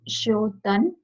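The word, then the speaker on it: श्च्योतन्: So first one, in this like C will the CH would be silent. So it would be Shotan.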